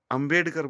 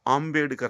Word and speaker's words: आम्बेडकर: ऐसे ही doctor B R. अम्बेडकर बोलते हैं ना, वो इंग्लिश में लिखते हैं। उनका जो सरनेम है वो आम्बेडकर है, आ है, ए नहीं है, आम्बेडकर, मूल सरनेम यही है।